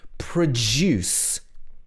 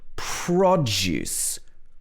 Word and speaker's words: produce: see how this works produce here the stress is on the second syllable the juice produce the company produces electrical products this is the verb and then so with the verb in ones like this the stress will often be on the second syllable and if it's a noun the stress will often be on the first syllable so this is produce